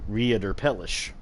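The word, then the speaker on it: Reiterpallasch: We will be using as our final weapon the Reiterpalash. Or another way you can pronounce it is Reiterpelish, which can actually be found at the Castle Cainhurst.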